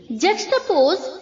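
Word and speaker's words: juxtapose: हैं clear जलेट जुबिलेट जक्स्ट पोज जक्स्ट post जक्स्ट post यहां पर जो बच्चों जे यू के आगे एक्स है उसे हमें के की तरह प्रोनाउंस करना है जक्स्ट पोस जक्स्ट पोज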